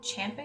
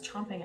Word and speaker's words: champing: Little Jack Corner is a champ at the Oh, champing at the bit. I don't know why I always thought that was chomping at the bit.